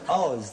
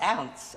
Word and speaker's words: oz: of them no no Oz that is O that means ounce you see that's a sort of but you pronounce it ounce ozed you see oh